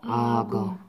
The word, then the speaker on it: 악어: 그래서 얘가 move up 돼야 돼요. 요게 move up. 그러면, when you pronounce, 이렇게. 악어. 아거 악어. 아거 악어.